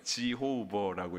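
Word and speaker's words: Jehovah: 실제로 우리는 영어 발음이 있잖아요. 여호와로 안 읽죠, 그죠? 지호버라고 이렇게 읽잖아요, 그죠?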